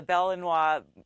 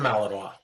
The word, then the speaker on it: Malinois: that German Shepherd or the bellinois is it how you pronounce it the bellinois yep Belgian Malinois okay you see those